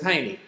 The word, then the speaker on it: Haney: I say, it's just like honey, but it's Haney.